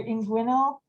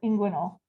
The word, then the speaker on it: inguinal: That also people will say either inguinal or inguinal, just like the accent on a different syllable.